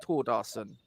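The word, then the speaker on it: Thórdarson: not anything else and told us that it's pronounced toward arson uh will be the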